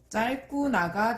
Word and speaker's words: 짧구나: 단어의 끝이나 자음 앞에서 리을로 발음된다고 했죠. 그럼 얘는 올바른 발음이 떨지는, 그 다음에 넓고, 짧구나가 되겠죠.